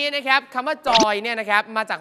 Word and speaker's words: จอย: เหนือ เนี่ย นะ ครับ เรา จะ ออก เสียง ช ช้าง เป็น จ จาน จาก โชย หรือ ชอย ก็ เป็น จอย เช่น เชียงใหม่ เป็น เจียงใหม่